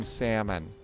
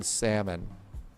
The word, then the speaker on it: salmon: It's just like the L in salmon. The L is silent in salmon.